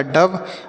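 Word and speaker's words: dove: लखनऊ आगे लिखा है डी ओ वी ई तो डी से पढ़ेंगे ड और ओ का उच्चारण अ के रूप में और वी ई से व लिखा डव मतलब होता है फाकता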